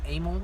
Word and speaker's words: Emil: By the way, this is my friend Emil. If anybody did not know that, E-M-I-L, Emil. Don't get it wrong, Pronounced with the A.